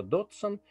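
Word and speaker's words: Dodgson: ее писать и произносить мы считаем что дотсом потому что буква г немая ради мурава писала доджсон а как она произносила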